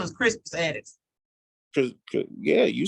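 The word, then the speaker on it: Crispus Attucks: Yeah, his name was Crispus Addicks. Yeah, you said it right. That's him. I guess you was in the wrong, Jason. She's like, niggas, Chris Addicks, nigga. No, it's Crispus.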